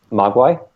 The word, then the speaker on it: Mogwai: What's the pronunciation for that in Chinese? Mogwai.